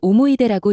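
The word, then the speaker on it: 思い出: 그런데 끝에 있는 스가 없어지면 이걸 오모이데라고 읽습니다. 오모이데는 추억이라는 뜻입니다.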